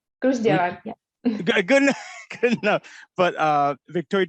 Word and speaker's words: Gruzdieva: It's Gruzdieva. Gruzdieva, yeah.